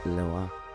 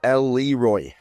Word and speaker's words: Leroy: We are here with Hugo, Lesizza from Perrelet and Leroy, or for my English speaking friends who have no elegance in their pronunciation, Perrelet and Leroy.